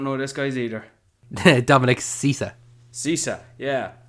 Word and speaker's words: Sessa: Dominic Sessa. Sessa, yeah. So at least I think that's how it's pronounced. It's Sessa. I'm going to go with Sessa.